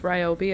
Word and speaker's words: Ryobi: Julia calls Toby Ryobi because Toby rhymes with Ryobi and Ryobi is a brand of tulle and that's that's that's the reason the reason for the season.